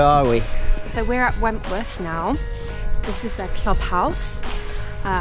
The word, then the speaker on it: Wentworth: W ogóle, jeżeli nie wiecie, albo nie znacie się za bardzo na golfie, to właśnie ten klub Wentworth, tak się to wymawia, jest gospodarzem największego turnieju na świecie golfowego Ryder Cup.